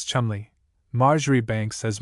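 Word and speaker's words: Cholmondeley: Ledger, for instance, is always pronounced as if written sillinger, commanderly as Chumley, Marjgery Banks as Marchbanks, and the illustrious name of Caendish was for centuries familiarly pronounced Cand.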